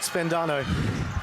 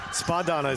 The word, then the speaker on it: Spadano: oh and our boy luke spendano spadano sorry i keep putting an n in there that's not there i do apologize and